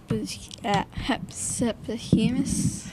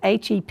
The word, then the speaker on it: Hephaestus: Can you pronounce his name the best you can? Hepsipohemus. I want to accept that because it is difficult to, but you're right. This is the way it's spelled. Hephaestus.